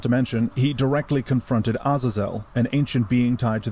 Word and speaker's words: Azazel: Not to mention, he directly confronted Azazelle, an ancient being tied to the origin of the devil gene. And for those of you who think the name is pronounced Aazil, you're wrong and should feel bad.